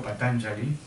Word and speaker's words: Patañjali: Bien, hablar de Patanjali, como deberíamos pronunciarlo, Patanjali, es hablar realmente del autor de este texto fundamental que son los Yoga Sutras o los aforismos del yoga.